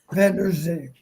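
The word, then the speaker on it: Vander Zee: I got to get that pronunciation down. Is it Reese Van Der Zee? Van Der Zee.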